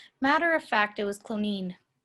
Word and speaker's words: Cloneen: Matter of fact, it was Cloneen. Ireland seems to have an inordinate number of towns and villages whose names rhyme with spleen.